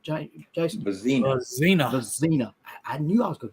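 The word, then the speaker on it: Vizzina: Vizina.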